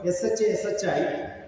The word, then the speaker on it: Shashi: That S-H-A you take and put in the first part, it becomes S-H-A, S-H-I, and that is how my name is spelled in North India.